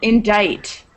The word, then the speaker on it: indict: Random okay um and indict that was that silent c I don't know if